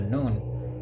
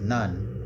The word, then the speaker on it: Nun: But, uh, the cartoon was pronouncing it noon.